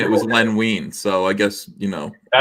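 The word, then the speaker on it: Len Wein: wine I think it's Len wean but I it could be Len wine it looks like it's pronounced wine but when I met him it was wean so it's weird uh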